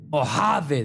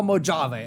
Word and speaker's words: Mojave: Mojave. That's how you say it. No Mojave. All right.